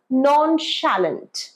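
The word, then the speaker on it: nonchalant: word note করে নাও নন স্যালেন্ট এটার বাংলা উদাসীন যার কোন ভ্রুক্ষেপ নেই যার কিছু কিছু আসে যায় না তাকেই তো আমরা উদাসীন বলি এটার প্রোনাউন্সিয়েশন নন স্যালেন্ট নন স্যালেন্ট নন স্যালেন্ট আমার ভাই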